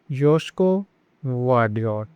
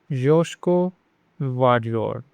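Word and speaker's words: Joško Gvardiol: The G in Gvardiol is kind of silent, so it is Josko Gvardiol. Josko Gvardiol.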